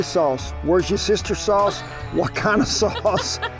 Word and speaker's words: Worcestershire: I'm gonna go ahead and say it, Worcestershire sauce. Pronounce that sauce. Worcestershire. Worcestershire. W sauce. Where's your sister sauce?